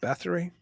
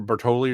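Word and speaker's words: Báthory: so I had to write it down Elizabeth Bathory uh yeah or Bertoli or something like that yeah I can never pronounce it oh no I'm sorry you're talking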